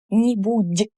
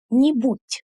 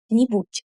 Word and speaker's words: нибудь: We say нибудь, нибудь, just like this. Because in Russian, at the end of the word, voiced consonants become unvoiced.